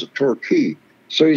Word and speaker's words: Torquay: down there at a little little community called torquay t-o-r-q-u-a-y but they pronounced the torquay so he says this song reminds me of